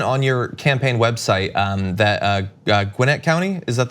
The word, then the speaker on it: Gwinnett County: So you mentioned on your campaign website that Gwinnett County, is that how you pronounce it? Gwinnett County.